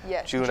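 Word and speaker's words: Djuna: Is it Juana? June. June. It is spelled with D-J-U-N-A, but it is Juna Eichelboom.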